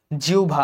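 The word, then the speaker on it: জিহ্বা: জয়ধ্বনি এটা লাগবে জ্ঞাত জিউভা আচ্ছা জীভ উচ্চারণটা একটু আনকমন এটা দেখে যাও আর জ্ঞাত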